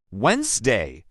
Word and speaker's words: Wednesday: But listening teaches you it's actually pronounced Wednesday.